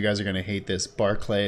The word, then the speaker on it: Barclay: are gonna hate this Barclay is actually pronounced Barclay I believe it yeah called the Barclays Center that's spelled the same way Charles Gnarls Barkley shut